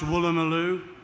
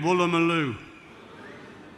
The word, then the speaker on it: Woolloomooloo: Can you all pronounce Woolloomooloo? No, again, Woolloomooloo.